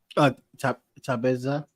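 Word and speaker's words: Thaba: our South African comrade taba oh so the age is silent okay because I want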